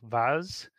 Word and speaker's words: Vaz: with my guests Dr Jessica Pizano and Vaz I pronounce that correctly yes you did Adam thank